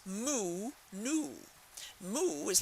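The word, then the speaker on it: Mu: and add them it's moo newo moo is like mooing a cow you know the cow goes moo and it's and newo sounds like moo so it's moo newo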